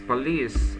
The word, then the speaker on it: police: and the this is police of the accent is on the second syllable oh that's not a